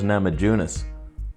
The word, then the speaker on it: Namajunas: lock knee breaker when it comes to rose namajunas that's how you pronounce that by the way and zhang wheely